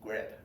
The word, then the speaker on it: grad: Usually we call this, we pronounce this notation as grade. G-R-A-D, grade.